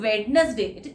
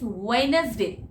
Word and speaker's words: Wednesday: Wednesday, it is not Wednesday, it is Wednesday, Wednesday, Wednesday, D is silent again, ठीक है।